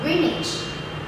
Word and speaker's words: Greenwich: It looks like green and which. But no, it is pronounced as Greenwich.